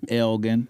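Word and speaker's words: Elgin: Anywhere else in the world, it would be pronounced Elgen, but in Texas, it is Elgen.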